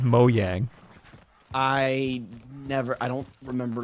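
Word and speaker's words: Mojang: thing I've ever heard we all learn in like 2013 that is pronounced mo yang I never I don't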